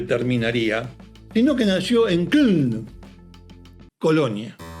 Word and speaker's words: Köln: Él no nació en Düsseldorf, donde terminaría, sino que nació en Köln, Colonia. Köln, según la pronunciación alemana, espero hacerlo bien.